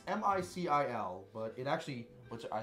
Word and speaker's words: Micil: So it's it's pronounced Micil. Well, it's M-I-C-I-L, but it actually. Which I think is really nice is it gives you the pronunciation next to it. So Micil.